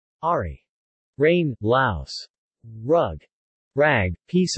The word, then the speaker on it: ári: In singing, however, it is normally pronounced much like the American English. R. Ari.